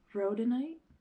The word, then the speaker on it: rhodonite: get almost like fixed up but it is pronounced rhodonite yes and I always mispronounce it but it's